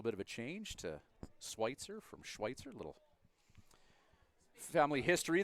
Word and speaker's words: Schweitzer: And Schweitzer doesn't make much phonetic sense. SWITZER. Spelt like Switzer, but pronounced differently. Correct. Let's go with that. It evolved from the name Schweitzer.